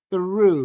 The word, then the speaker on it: through: o U, es through. Through. Through. Okay? All things were made through him. Y la TH del through es como una Z española.